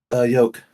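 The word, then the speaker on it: yolk: over the place come yoke thank you I thought you pronounced the L for a minute there I was about to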